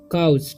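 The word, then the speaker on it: couch: ठीक, यहाँ पर जब भी किसी वर्ड में ओ, ठीक है, और सी रहे साथ में तो इसका उच्चारण सी का यहाँ पर क उच्चारण होगा, ठीक है, ओ का उच्चारण होगा आ, ठीक, और डब्लू का ऊ होगा और एस का ज, तो पढ़ेंगे हम काउच।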